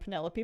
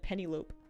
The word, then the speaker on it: Penelope: oh I like that we have a dog named Penelope but everyone pronounces it Penny lope I mean I just